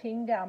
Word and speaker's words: Qingdao: place in China called Qingdao. Most people know how to say Qingdao, and that starts with a Q.